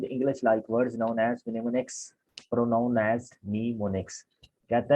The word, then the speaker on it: mnemonics: और प्रोनाउंस उसको हम पढ़ते भी क्या है, mnemonics।